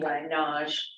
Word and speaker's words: Nagy: Nagy, it's pronounced Naj in Hungarian.